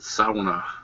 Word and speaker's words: sauna: Plaza something classy with a pool and a sauna and like massage service without the happy ending Brad that clear you're in northern Wisconsin it's pronounced SAA oh God don't don't don't have Amy Frost